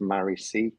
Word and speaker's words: Marici: old Buddhist days teachings I'm sure that was how it's uh pronounced Murray c um which is the